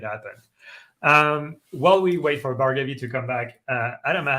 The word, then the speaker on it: Bhargavi: I'm Bhargavi. It's pronounced like it sounds. Bar as in a place you go to get a drink. Gov, shorter form of government, and the letter E. Bhargavi.